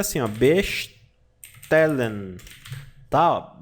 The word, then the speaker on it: bestellen: Alemão tem som de s de ch você pronuncia assim a bestellen tal B tér Lan Ah tá tá Lan bestellen bastan pedir e todo o verbo no Alemão